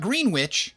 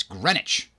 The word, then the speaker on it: Greenwich: And then on the other side of the state, we got Greenwich, which is spelt Greenwich. But it's not Greenwich, it's Greenwich.